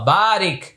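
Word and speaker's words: بارك: আমরা এখানে পড়েছি আল্লাহুম্মা সল্লি, এখানে পড়বো আল্লাহুম্মা বারিক। এখানে পড়েছি কামা সল্লাইতা, এখানে পড়বো কামা বারাকতা। তাহলে এইটা আমি উচ্চারণ করে দিচ্ছি, আপনারা লক্ষ্য করুন।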